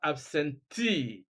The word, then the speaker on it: absentee: We have absentee, détenu, nominee, reportee, divorcee, and so on and so forth.